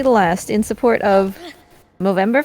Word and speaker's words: Movember: last, in support of Movember Foundation, I believe is how it is pronounced. Yes. That is correct. It is the Movember Foundation.